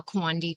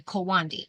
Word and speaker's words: Kawandi: So you do not call it a Quandi quilt because you would be saying quilt. You just refer to it as a Kawandi, and that is spelled Kawandi.